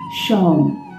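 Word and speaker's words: शौं: शौम, तलव्यशा, औकार, शौम, ऊपर बिंदी मैं लिख दे रही हूं स्क्रीन पर, शौम।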